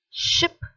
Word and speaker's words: ship: then the next one see it is a shorter sound it is ship ship the first one is sheep so the sound is long there second one is ship